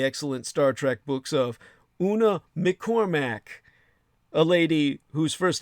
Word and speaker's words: Una McCormack: whose first name is spelled U-N-A, Una, and her surname is spelled McCormack, M-C, uppercase C, O-R-M-A-C-K. Two C's, the M with the lowercase c as in McDonald's, and the uppercase C to start the final syllables of her surname, McCormack, M-C-C-O-R-M-A-C-K.